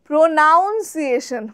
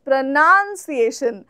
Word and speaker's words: pronunciation: যেমন আমি বলছি প্রনাউন্সিয়েশন, বাট ম্যাক্সিমাম লোকে বলে দেখবে প্রোনাউন্সিয়েশন, pronunciation, but the correct is pronunciation.